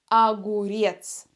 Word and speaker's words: огурец: популярный овощ наверное огурец будьте внимательны мы произносим первую букву О как а потому что буква О не под ударением на ней нет ударения огурец огурец помидор помидор помидор